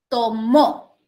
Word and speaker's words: tomó: Pero si yo agarro y digo, tomó el libro, ya no estoy hablando de un sustantivo, sino estoy hablando de un, ¿qué cosa sería? Verbo.